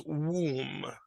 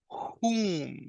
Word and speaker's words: whom: Be super careful with this word because we have another word in English which you are pronouncing right now. And that word is this. All right. That is womb. The word, the relative pronoun we're practicing is whom.